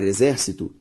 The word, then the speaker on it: exército: Ao separar exército, exército. A sílaba tônica, zer, ou seja, antepenúltima sílaba tônica, portanto, proparoxítona, e eu te falei que toda proparoxítona é acentuada.